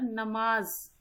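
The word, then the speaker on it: नमाज़: देखो नमाज, आप इसको नमाज पढ़ेंगे, लेकिन ये तो सही उच्चारण है नहीं। जैसे इसके नीचे हम नुक्ता लगा देंगे, ये क्या बन जाएगा? नमाज ना रहकर नमाज, ज बोलेंगे इसको।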